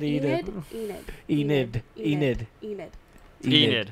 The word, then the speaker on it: Enid: Well, we see that Aaron and Edith. I always say her name wrong. You do. Edith is okay What? because right Enid.